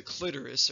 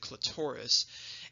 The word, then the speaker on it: clitoris: then last but not least we have the clitoris or some people pronounce it clitoris and this is the erectile tissue so this